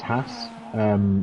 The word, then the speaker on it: Haas: in the Haas, I can pronounce Haas. It's just ass with an H.